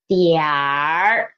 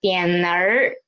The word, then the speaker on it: 一点儿: or after it, and then we will read it as diar. Don't read it as dianer. Don't read it as dianer. Okay, please read it as diar.